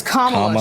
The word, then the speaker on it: Kamala: That's not how you fucking pronounce her Kamala. name. Okay, then pronounce it. It's Kamala.